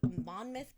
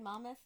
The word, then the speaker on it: Monmouth: But this week we are going to be talking about Richard Biegenwald out of Monmouth County, New Jersey. Right? I pronounced that right? Monmouth?